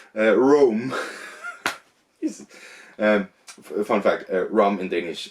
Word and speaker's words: Rome: Okay, not Rom, Rome. Fun fact, Rom in Danish and Rome in Danish is spelled the exact same way and pronounced the exact same way.